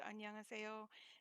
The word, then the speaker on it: 안녕하세요: There are 5 syllables in the word 안녕하세요, and it is the polite way to say hello. And you will learn to speak it slowly.